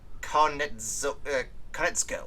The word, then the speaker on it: Konietzko: Directed by Dave Filoni and written by Michael Dante DiMartino and Brian I can never pronounce this guy's last name. Konietzko.